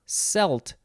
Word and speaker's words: Celt: we have celt or celt most people say celt it is capital c-e-l-t but it looks like it is pronounced selt and some people say that and that is okay this is a noun